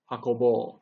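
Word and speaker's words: 運ぼう: Okay, so again, remember the pronunciation is very important. So not saso, saso, sakebo, hakobo. We want that long O at the end.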